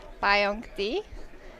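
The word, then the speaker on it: Pajak: like I have my own code that's gonna give you like 15% off, and it's PWBA PAYONK, which is spelled P-A-J-A-K, like my last name. We say it Payonk.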